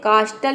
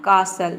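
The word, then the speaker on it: castle: मतलब होता है कीला अब देखिए यहां पे कास्टल इसको आप नहीं प्रोनाउंस कर सकते आप बोलेंगे कास्टल तो आपका प्रोनंसिएशन गलत हो जाएगा ये हो जाएगा कासल यानी कि सी ए एस हो गया आपका कास और एल ई हो जाएगा आपका ल कासल इसमें टी लेटर साइलेंट है तो आप समझ गए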